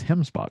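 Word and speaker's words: gemsbok: It's Hemsbach, but it's spelled Gimsbach, so it's kind of neat. Yeah, So I think it it's is Dutch or Afrikaans.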